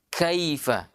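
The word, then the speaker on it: كَيْفَ: Kesalahan terkadang terjadi adalah kita membaca bukan kaifa, tapi dibaca kaifa. Kita miring-miringkan lagi ke huruf e. Iya, padahal ya orang Arab tidak miring kalau dia membacanya. Dia baca kaifa.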